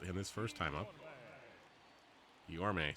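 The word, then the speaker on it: Guillorme: Guillaume, sorry. The Mets broadcasters have been saying it wrong all last year too.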